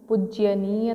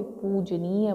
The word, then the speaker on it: पूजनीय: तो आपको समझ आ गया कि हम पूज्यनीय तो नहीं बोलते, पूजनीय बोलते हैं।